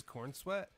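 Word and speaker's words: Corenswet: He has corn sweat. Yep, David. Oh, David. Yeah, sorry. Well, I didn't spell it right because I spelled corn sweat.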